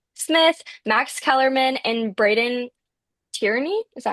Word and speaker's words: Brandon Tierney: Smith, Max Kellerman, and Braden Tierney. Is that how you say it? I think so. Brandon Tierney, BT.